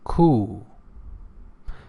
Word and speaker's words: coup: And the last word is coup. Remember, P is not pronounced.